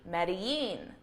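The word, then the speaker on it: Medellín: that this Spanish name, that the double L in Spanish is actually pronounced as a Y sound, okay? Making the pronunciation of this city Medellin, Medellin, which probably still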